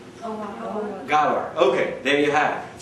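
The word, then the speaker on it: Ghawar: G-H. How do you pronounce it? Gawar.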